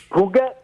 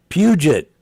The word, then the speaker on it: Puget: Ugat? Is that Ugat? Ugat? EU. let me read it. I mean, spell it. Let me say so. Papa, uniform, golf, echo, tango. Puget.